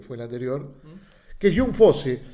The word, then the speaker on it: Jon Fosse: el anterior, que es Jun Fose. Se pronuncia Jun. Voy a buscar ahora más o menos las pronunciaciones porque era raro que se pronunciera John este en oruego, ¿no?